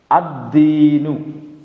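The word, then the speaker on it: الدين: अद्दीनु, अद्दीनु। ठीक है, यहां लाम का प्रोनाउंसिएशन नहीं हो रहा है।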